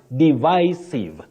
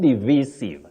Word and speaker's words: divisive: That then, your second word, divisive, not divisive. Many people say divisive. That is inaccurate in English.